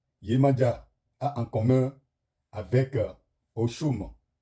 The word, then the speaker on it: Oxum: Chers abonnés, nous allons voir ce que Yemanja a en commun avec Oshum. Oshum qui s'écrit O-I-U-M.